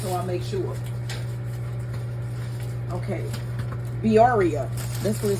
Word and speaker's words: birria: internet said that this is the way to pronounce it. Let me find this again, just so I make sure. Okay. Birria.